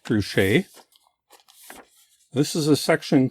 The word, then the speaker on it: Truchet: But the latest diversions I got to the section on trus tiles. I think that's how you say it. It's a French guy. So it looks like trusche.